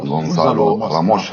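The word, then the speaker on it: Gonçalo Ramos: عاطفيا أي نعم نتكلم عن غياب رونالدو، لكن فنيا وواقعيا البارحة نتكلم عن البرتغال، نتكلم عن اكتشاف البطولة، صاحب الهاتريك غونزالو راموس هكذا ينطق في البرتغال.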